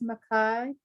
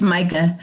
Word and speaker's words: Micah: And we have a hand raised, Makai. I think that's how you say it. I'm sorry, I probably said your name totally wrong. It's okay. It's Micah.